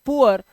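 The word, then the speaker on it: poor: bore इसी तरह से इसे पूर नहीं पढ़ते इसे पढ़ते हैं पुअर और इसी तरह से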